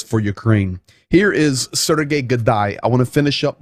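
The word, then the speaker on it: Haidai: gay could die and i know it says h but it's pronounced with a g sergey godai of course that being the ukrainian governor of the legansk region um sergey gadai he said after legansk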